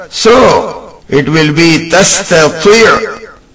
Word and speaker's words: تستطيع: Line number 3 has تستطيع عليه ta and ta. They are to be pronounced with same makhraj. So it will be تستطيع. تستطيع.